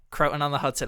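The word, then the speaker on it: Croton-on-Hudson: was and how do how do you say it cotton on the Hudson croon on the Hudson yeah croon on the Hudson okay so see I'm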